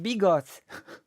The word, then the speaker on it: bigos: a piece of bread Migos pronounced bigots often translated into English